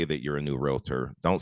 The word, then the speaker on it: Realtor: estate agents to know, the right pronunciation is Realtor.